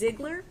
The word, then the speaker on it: Ziggler: Is it Miss Ziggler? Yes. Okay. I wanted to make sure I was pronouncing it properly.